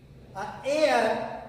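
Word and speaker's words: heir: Akbar became एयर. एयर का pronunciation जो है ए से होता है, इसलिए इसके आगे एन का प्रयोग होगा, न कि एयर होता है.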